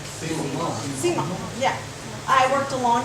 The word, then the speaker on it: Simon: My husband is Cajun French, but it's pronounced, because people always ask, and this is why I mention it, but it's pronounced Simon. Simon, yeah.